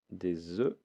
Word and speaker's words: œufs: des œufs des œufs attention à la prononciation des œufs alors je vais dire des œufs mais je vais dire un œuf un œuf d'accord regardez un